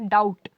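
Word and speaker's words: doubt: night है ठीक है या डाउट इसमें जो आपका टी है ये क्या है साइलेंट है ठीक है लिखने वक्त हम बी लिखेंगे बट बोलते वक्त हम बी का यूज नहीं करेंगे है ना तो कई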